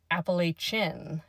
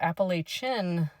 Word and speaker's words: Appalachian: the actual mountain range, it'd be more like Apalachen as opposed to shin like I say. So, Apalachen based on like a Spanish pronunciation might be more correct.